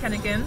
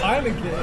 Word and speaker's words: Heineken: Tastes like Henneken. But it's orange flavor, y'all. You see it? Henneken. I'm gonna laugh every time. Why? Because it's Heineken.